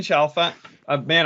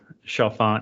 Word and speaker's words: Chalfant: having us so sorry i really butchered your name i mean like you said laughing through it shafan yeah most people do it's all good all